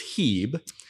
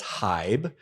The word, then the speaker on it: Hieb: And when you have two vowels that are side by side, for most German names, the first vowel will be silent. The second vowel will be long. So the I is silent. So it's Hebe.